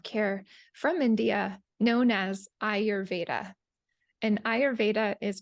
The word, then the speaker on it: Ayurveda: family what you learn today uh which is ayurveda so ayurveda means the knowledge of life and